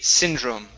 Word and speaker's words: syndrome: go good and yes this is going to be syndrome the E is is not is not pronounced okay okay Sy Drome